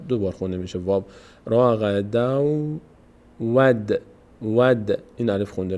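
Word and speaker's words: رغدا: تنوین تبدیل میشه دیگه اینجا نون تلفظ نمیگیم نمی‌کنیم نمیگیم راقدن به جای اون نونی که در این کلمه بود راقدن اون نون آخر تبدیل میشه به چی حرف بعدی که واو هست میشه راغدو رغ دو به جای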